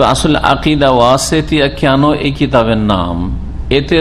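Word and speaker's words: وَسَط: আকিদা কত ভুল বুঝেছে ওয়াসেদ ওয়াসেদ মানে হচ্ছে মধ্যমপন্থা ওয়াসেদ মানে মধ্যমপন্থা নয় ওয়াসাত মানে মধ্যপন্থা এইভাবে তোমাদেরকে মধ্যমপন্থী উম্মত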